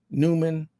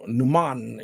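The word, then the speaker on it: Neumann: or Norman Newman um but it's really German is is you know Numan you know it's kind of like a German because it's a European company uh but we've been pronouncing a lot of those European countries wrong you know because of English but um a u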